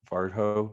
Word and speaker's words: Varjo: four thousand dollar var varjo is how you say that headset we'll pair them together